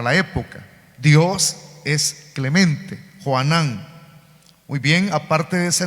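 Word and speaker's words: יוחנן: el nombre de juan la forma griega del nombre hebreo es juanan o sea que así se pronuncia en el hebreo juanan y lo que significa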